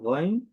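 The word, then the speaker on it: غين: গইন। আমি আবারও বলছি, গইন, গইন। যদি বিভিন্ন উচ্চারণ দেখি, গ, রি, রু, রন, রিন, রুন।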